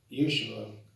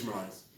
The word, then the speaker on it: Ishmaelites: And Joseph heard that the Yeshua, I can't pronounce those words yet. It's Ishmaelites.